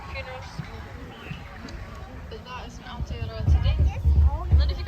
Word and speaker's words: Aotearoa: So this is the land of Aotearoa.